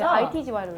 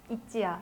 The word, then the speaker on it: ITZY: ITGY로 읽었어? 네, ITGY로 읽었어요. 저희는. 아. ITGY구나 했는데 이제 저희를 모아두시고 팀명이 나왔어. 그래서 뭔데요? 이렇게 했는데 있지야. 해서 뭐가 있는데요?